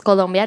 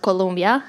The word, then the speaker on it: Colombia: Colombia South America first you don't know how to pronounce it if you are from out of Colombia so it's column yet not Colombia as the university is very different I admit that I